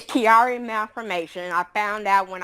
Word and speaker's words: Chiari: I know that you had to live with, and now please excuse me if I pronounce this incorrectly, Chiari malformation. Can you tell us about that? It's Chiari malformation.